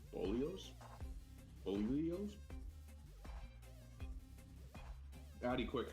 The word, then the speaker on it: bolillos: veggie frittata and some little Mexican breads called bolillos. Bolillos? Addy, quick, how do I pronounce that?